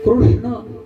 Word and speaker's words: कृष्ण: अर्धा सगळ अर्धच आहे कृष्ण म्हणण सुद्धा खूप कठीण आहे कृष्ण शब्दाच उच्चारण एवढं सोपं नाहीये क आणि त्याला रुकार कृष् आहे शमृगाच नाही षट्कोनाच श कळाल का त्याच्यामध्ये जिवानीय शब्द